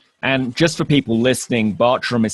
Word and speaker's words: Bartram: just for people listening Bartram is spelt with two A's even though it's pronounced as though that had a u in it so and we'll put